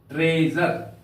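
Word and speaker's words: treasure: ई प प्यारे बच्चों यहां पर एस के बाद वावेल है इस पर जोड़ दिया गया है इसलिए इस एस का उच्चारण होगा ट्रेजर ट्रेजर का अर्थ होता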